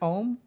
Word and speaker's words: om: we chant it so om is generally speaking composed of three syllables and we start with the mouth fully open ah go to middle open that's how we chant oh okay so what